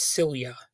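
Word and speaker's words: Silje: silia salamonson and I I had to look up how to pronounce that first name because it's spelled s i l j and it turns out that's cilia and then you have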